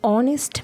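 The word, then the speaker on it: honest: যেমন এক্সাম্পল দেখলেই তোমরা বুঝতে পারবে যে অ্যান অনেস্ট ম্যান, অ্যান অনেস্ট ম্যান, এখানে কিন্তু এইচের উচ্চারণটা সাইলেন্ট আছে।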